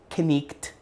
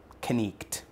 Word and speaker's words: night: One being that the silent K is pronounced. So the word night, where we actually make the K silent and we use the I, is pronounced knicht, knicht. So it's kind of neat.